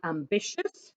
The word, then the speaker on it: ambitious: ways of doing it you've got ios where the i is pronounced and you've got iou s where it isn't pronounced so like ambitious here you don't hear the i but in curious which